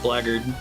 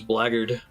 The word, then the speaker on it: blackguard: supposed to be pronounced blaggard I'll look it up yeah do you Google black blackguard the only pronunciation it gives us blaggard I always pronounce it